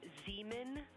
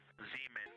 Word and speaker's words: Zeeman: Integrity science, we believe that's Zeeman crater. Oh, I floated away from the speakers hand again, please. We believe that that is Zeeman crater. Zeeman, okay.